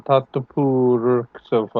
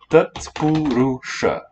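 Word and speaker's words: tatpuruṣa: It is at least the one that you like, that has your initial, Tattapur Sofa or something. At least that one. Ouch, let's get it right though. Tatpurusha.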